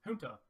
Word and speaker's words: junta: This card is pronounced Junta.